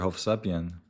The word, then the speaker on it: Hovsepian: Hovsepian. Hovsepian. By the way, you know what's crazy? Hovsep is the Armenian pronunciation of Joseph.